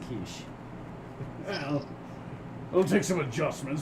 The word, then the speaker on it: quiche: Sir, that's pronounced quiche.